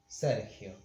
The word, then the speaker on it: Sergio: When the letter that follows the G is E or I, G, as in my name, Sergio, this is pronounced Sergio.